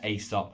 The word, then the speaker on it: Aesop: saw this coming, but this is the Aesop, or Aesop, depends where in the world you are as to how you pronounce it, a rose by any other name body wash.